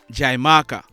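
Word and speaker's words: Xaymaca: Jamaica were the tainos they called The Island jaimaka this is spelled x-a-y m a c a jaimaka which means the land of wood and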